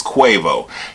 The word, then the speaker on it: Quavo: Because I'm sure y'all try to pronounce it. It's Quavo.